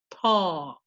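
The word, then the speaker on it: ط: a slight puckering of the lips, pressing your tongue on the top of the front teeth. Ta, ta.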